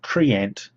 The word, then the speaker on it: Treant: on uh tolkin inss the word trient refers to tree and giant so Triant is the correct pronunciation of their name now what are they